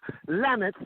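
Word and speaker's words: למד: First off, what they did was to take the letter Lam in Hebrew, which is pronounced Lamet, which is equivalent to the English letter L.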